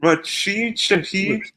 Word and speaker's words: Rashid Shaheed: Rashid Shaheed.